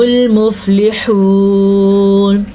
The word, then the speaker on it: الْمُفْلِحُونَ: بغیر پڑھا۔ وَأُولَئِكَ هُمُ الْمُفْلِحُونَ، پھر سے مد تو لمبی کرنی ہے لیکن واو یہ والا نہیں پڑھا جائے گا۔ ہا کے تلفظ کا پھر سے آپ نے دھیان رکھنا ہے۔ اب یہ ہے ہمل،